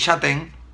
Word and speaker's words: Chataing: su apellido se escribe Yo pensaba que era Luis pero es chaten y Tuvimos una conversación